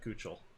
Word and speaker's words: Keuchel: And I was like, oh, I know how to pronounce it. It's Keuchel. He's, no, we pronounce it Kuchel.